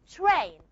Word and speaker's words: train: It's not train. You don't pronounce it as train. How do you pronounce it? Train. Train. Just like we learn. You have A, just like face. Okay? So say train. So what happens in here? The sound ta is aspirated.